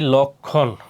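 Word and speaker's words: লক্ষ্মণ: এরপর যুক্ত ব্যঞ্জনের সাথে সংযুক্ত মফলার উচ্চারণ হয় না, যেমন কি লক্ষণ। দেখো এই খর সাথে কি আছে এই যে ম, সেই জন্য কি মর উচ্চারণ হয় না। আর লক্ষণ উচ্চারণ করতে গেলে এখানে হসন্ত দিতে হবে, লক্ষণ।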